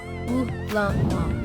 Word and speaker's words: Ulamog: Ulamog.